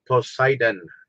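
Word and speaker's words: Poseidon: sea was uh uh posidon posidon yeah that's how you say it in English I'm sorry posidon is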